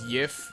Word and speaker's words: GIF: I say GIF. Technically speaking, the way that the guy who created the file format says that it's supposed to be pronounced as YIF, but that's okay, Albie.